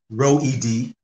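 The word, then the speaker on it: Roed: Yeah, well, my name, Row Ed, I just very phonetically spelled like row, like a row your boat, the letter E, and then D, like someone's name D. So Row Ed.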